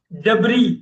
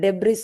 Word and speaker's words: debris: டெப்ரி, குப்பை, குப்பை, குப்பை. Debris. Oh, so yes, sir. டெப்ரி. யூஸ்வலா நம்ம இந்தியால வந்து பாத்தீங்கன்னா நம்ம டெப்ரிஸ் அப்படின்னே தான் படிச்சிருக்கோங்களா, அதனால எனக்கு டக்குன்னு அந்த அமெரிக்கன்ஸ், பிரிட்டிஷ் எல்லாருமே எஸ் சைலண்ட் வச்சுருவாங்க.